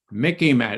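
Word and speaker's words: MICIMATT: got a pencil okay Mickey Matt it Rhymes sort of like with Mickey Mouse easy to remember here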